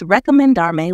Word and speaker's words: recomendarme: It's recomendarme with an O sound after the rec. Try pronouncing it as recomendarme.